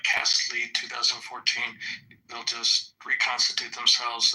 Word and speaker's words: Cast Lead: I thought the operation was LEAD, Cast Lead, LEAD. Yeah, LEAD is lead. It's what you make put in bullets.